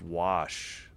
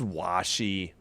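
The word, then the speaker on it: Washe: I'm assuming it's just Wash. It is Washy. I didn't know that.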